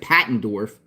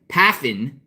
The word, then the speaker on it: Paffendorf: paffendorf and I'm sorry I said his name wrong at the beginning I said Pat andorf paffen with an F from Carl spad California